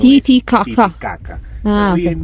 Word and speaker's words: Titicaca: y el aymara, y la correcta pronunciación es Titicaca. No es Titicaca.